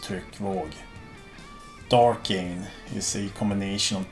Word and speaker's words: Tryckvåg: Tryckvåg means blast wave, and it's pronounced Tryckvåg.